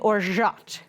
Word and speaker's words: orgeat: styles of rum, and orgeat. That's how you pronounce it. It is spelled O-R-G-E-A-T, but it is pronounced orgeat, okay? Don't call it orgeat or orgeat, because then you just